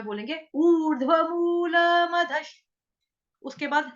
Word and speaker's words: मधः: मदशनी कहेंगे, मदशनी है, मधश। श शलगम वाला, शबरी वाला जो है वो आधा है। विसर्ग का उच्चारण जो होगा वो श के साथ करेंगे, हलंत श से।